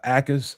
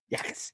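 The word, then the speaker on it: Jacas: You guys heard about Gabe uh Akis out of Illinois? Yakis. Yakis. Yakas. Yakas. It's a no J. All right. Jay is silent, brother.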